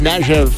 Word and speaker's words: Kniaziew: One of them is Kniaziew Optometry, and Jordan is on the line. Jordan, how close did I get to that name? You nailed it. Kniaziew.